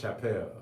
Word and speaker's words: Chappelle: some questions they're just messing with your own pronunciation about chappelle it's chapelle man you know put the money up and